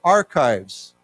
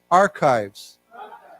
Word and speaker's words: archives: and this word here this is pronounced with a k so it's not it's archived so why don't we say together archives archives right and so the US government there's a U.S national archives it's a place where